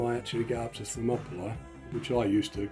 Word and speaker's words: Thermopylae: I'm pretty sure by the time I actually get up to Thermopylae, which I used to call Thermopylae, I was terrible for pronunciation when I was a teenager.